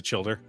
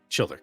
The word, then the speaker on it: Childer: Childer. Is it children? Childer. Got it.